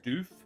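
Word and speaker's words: Stüff: Sylvestra's Stuff. But it's spelt like there's an umlaut over the U. So it's actually Sylvestra's Stoof.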